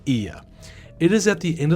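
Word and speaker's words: Oia: Yes, it's pronounced Ia.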